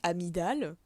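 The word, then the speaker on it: amygdale: Et Amidal qui s qui s'écrit Amigdal. Ah yes, j'ai la bonne orthographe. Euh se se dit au film donc une amidal.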